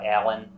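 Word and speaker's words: Aillen: for many years by a monstrous figure uh Allen a-i-l-l-e-n who appeared on sound was eventually vanquished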